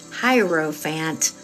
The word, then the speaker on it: hierophant: but it's the higher Hierro Fant okay and it's not font like a lot of people say which also drives me crazy but it's the hierophant and he is he